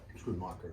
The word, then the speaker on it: Schoonmaker: Schoonmaker is the right way to say it, yeah.